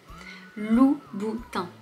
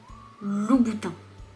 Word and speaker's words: Louboutin: Louboutin. Louboutin. Je pense pas que ce soit particulièrement difficile à prononcer pour toi. Louboutin. Trois syllabes, plutôt simple. Tu vois que le son 1 peut aussi s'écrire IN.